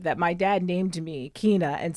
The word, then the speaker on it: Keyne: we say it right it's Kina Kina it's not Kane it's not Kanye it's Kina it's Kina yes k